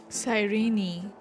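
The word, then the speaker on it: Cyrene: and before my eyes that murderer killed sirene sirene that's how we pronounce her name I saw its form this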